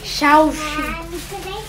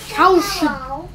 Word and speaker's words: Shaoxing: It's the Shaoxing rice wine. I don't know if I pronounce that right. Correct me if I'm wrong. Mommy. Yeah? Shaoxing. Shaoxing.